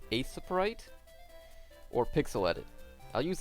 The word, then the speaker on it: Aseprite: Sometimes I'll use, I think it's pronounced Aseprite, or Pixel Edit.